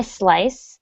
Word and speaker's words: slice: you to try and pronounce the s of slice without adding the letter e ahead ahead of it okay so it's not a slice the tofu it's just slice the